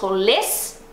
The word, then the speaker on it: olés: Yo huelo, tu hueles, Se for o vos, aí é vos olés. Aí é olés, sílaba tônica no final, né?